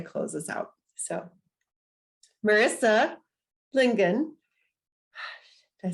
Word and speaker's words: Lingen: So Marissa Lingen, did I say it right? Marissa, just did it wrong. Lingen, got it.